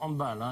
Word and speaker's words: handball: Alors ce mondial de handball, on dit bien handball et non pas handball, on prononce à l'allemande.